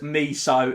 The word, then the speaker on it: Miso: name of the shop it is pronounced miso is in me so and i know that